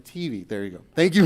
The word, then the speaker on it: Mattive: How do you pronounce your last name? Mativi.